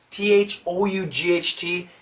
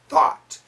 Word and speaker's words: thought: be useless were thought t-h-o-u-g-h-t it's an a-w sound foot no not for american pronunciation thought can drop the chin thought tt connect it